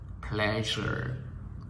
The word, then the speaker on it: pleasure: cái tiếng, nó không có bảng phiên tiếng phát âm của tiếng Việt mọi người ơi. Ví dụ pleasure, pleasure, pleasure, pleasure, pleasure.